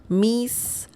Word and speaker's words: mis: Miss. The pronunciation of this word is very similar to the English word miss, M-I-S-S.